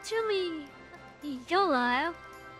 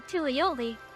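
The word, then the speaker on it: Tuliyollal: It's Tuli Yol. And I keep on calling you Tulioli.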